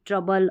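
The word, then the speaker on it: trouble: मतलब कुछ-कुछ स्पेलिंग्स जैसे यंग, कंट्री, ट्रबल और डबल।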